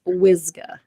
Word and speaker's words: Wyzga: your last name yes it's whsa like Wizard and I know it looks like a radio station you know wyzga broadcasting over the airwaves